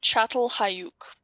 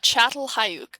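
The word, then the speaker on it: Çatalhöyük: you actually pronounce it chatel hayuk because apparently this makes a ch sound don't know how that makes sense but chatel hayook so remember we talked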